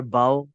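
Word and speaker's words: bow: लो जी example, बो टाई, बो और बाओ, देखा आपने? ये जो ये वाला है इसको हमने बोलना है बो, और ये झुकना वाला है बाओ।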